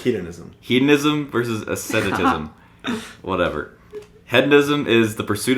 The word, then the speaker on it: asceticism: Hedonism versus aestheticism? Is that what it is? I think ascent. Like it's ascending. Asceticism. Asceticism. So hedonism. Got it. Hedonism. Hedonism. I'm pretty sure it's hedonism. Hedonism versus asceticism.